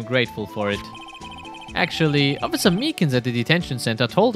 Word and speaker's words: Meekins: Actually, Officer Meekins at the detention center told us. Ah, that poor little doggy. Poor guy, I kept getting his name wrong and calling him Meekly.